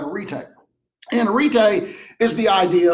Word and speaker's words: arete: That's how you pronounce that, arete.